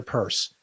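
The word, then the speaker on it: Peirce: the cftc we have Hester purce Pierce however you want to go I believe the correct pronunciation is Hester purse so Hester better known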